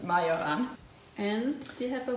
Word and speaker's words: Majoran: This is, we think it's called marjoram in English. In German it's majoran.